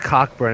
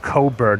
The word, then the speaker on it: Cockburn: Yeah, and this guy was just like, it's not pronounced Cockburn. It's called Coburn. The C and K are silent.